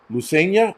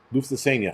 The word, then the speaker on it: Lufthansa: The German airline Lusania, I can't pronounce that.